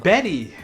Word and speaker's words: Bette: And Beat Davis. And Betty. Is it Benny? Yeah. Ah, I didn't know. Beat Davis. I always thought it was Beat. I should have just let that in. Beat Davis. I didn't know that's how you pronounce it.